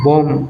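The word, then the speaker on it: bomb: বি ও এম বি বম be silent B ও এম বম তাবি বন্ধকল claim C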